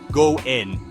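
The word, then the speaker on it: 五円: The Japanese pronunciation for 5 yen, goen, is a homophone for goen, which means good fortune or a faithful connection, especially in relationships.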